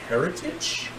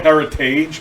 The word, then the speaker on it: Heritage: It's called Heritage, by the way, if you don't say it right. But it's literally, like, the word's heritage.